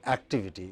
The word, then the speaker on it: activity: It is not activity. What is it? Activity. This is stressed.